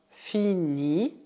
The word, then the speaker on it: finis: Isso dá je finis, cuidado, o S final é mudo, tu finis, il finit, aqui também o T final é mudo, nous finissons, vous finissez, elles finissent.